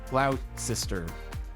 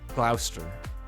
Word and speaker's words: Gloucester: in the us so probably is loud sister rather than gloucester like lester wooster whatever some guy stole the